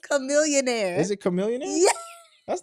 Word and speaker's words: Chamillionaire: chillionaire chil no it's not it's chillionaire it's Chamillionaire is it Chamillionaire that's not how you spell that there's another rapper from uh rap [